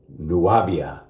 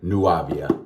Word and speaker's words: Nuàvia: soap and aftershave and it's nuavia nuavia i hope that's how it's pronounced nuavia blue or blue